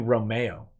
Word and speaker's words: Romeo: it's ice also Nick my name is pronounced like the Shakespearean play character of the same name just so you know Thanks I'm gonna call you Romeo said a Romeo